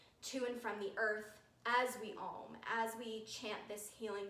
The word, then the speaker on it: Om: Om is the sound of everything that is. It is A, it's composed of 3 syllables.